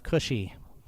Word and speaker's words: Cushi: And a common way to designate who belonged to a particular tribe or nation in Hebrew is to append a long I to the end of the name.